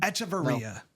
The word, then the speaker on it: Echavarria: Do you know that I actually studied how to pronunciate that? Is it Echevarria? That's impressive. Echevarria.